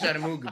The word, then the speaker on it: Sharmoug: No, it's Sharmoug, bro. It's pronounced Sharmoug, bro.